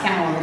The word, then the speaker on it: Callum: Nope, it's pronounced Callum in Scottish.